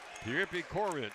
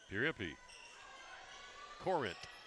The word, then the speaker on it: Pierpy Corrint: Pierpy Corrint will be how you pronounce that young man's name out of New Zealand. Number 11. Pierpy Corrint for the Buffaloes.